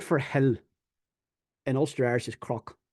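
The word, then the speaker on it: cnoc: oler the word for Hill in oler is Croc it's not knock it's c r it's spelled it's pronounced c r o c but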